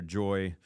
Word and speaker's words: Joi: So Just One Ingredient, or Joy, it's spelled Joi.